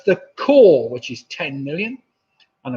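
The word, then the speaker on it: crore: So it's the core, which is 10 million. And of course, core rhymes with number 4.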